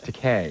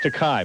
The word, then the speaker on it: Takei: George Takei is, it's Takei, by the way. No, it's Takei. Is it? Rhymes with okay.